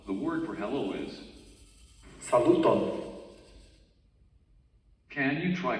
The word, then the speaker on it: Saluton: In Esperanto, the word for hello is Saluton. Can you try pronouncing? Saluton.